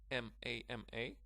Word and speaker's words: mama: Okay, the second pronunciation, ma was without stress, but the stress falls on the first syllable here, so it's mama.